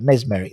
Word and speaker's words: mesmeric: mesmeric uh mesmeric yeah mesmeric that's it that's merry not miss merry i do apologize i